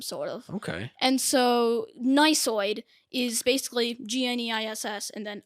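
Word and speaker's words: gneissoid: i actually got it so the silent g to start the word i mean and then not only that there's an e i and then there's a double s yeah i'm done i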